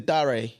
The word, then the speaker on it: Dare: Because my name is Dare. So it's spelled Dare. That's nice. But everyone's always anytime when they see my name, they just call me Darren anyway.